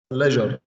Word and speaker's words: pleasure: Sultan, it's a pleasure. Pleasure. S will pronounce as ja.